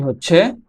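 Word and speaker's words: هاء: দুই ঠোঁট গোল করে সামান্য খোলা রেখে উচ্চারিত হয়। ওয়াও, ওয়াও, ওয়াও, ওয়াও, ওয়াও। এর পরের হরফটি হচ্ছে হা। হা হরফটি কণ্ঠনালীর শুরু হইতে উচ্চারিত হয়।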